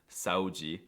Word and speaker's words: saúde: However, the cutest noises by far that come out of Brazilians is the way that they pronounce the DE at the end of words, like in onde, verdade, saúde, GGG.